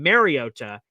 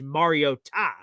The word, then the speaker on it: Mariota: Everyone has been saying it wrong my entire 10-year career and saying Mariota. It's not, it's Mariota.